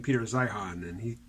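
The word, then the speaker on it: Zeihan: from it is that I've been putting too much emphasis on the H in his name saying Peter Zion and he pronounces it Zion or Zion anyway for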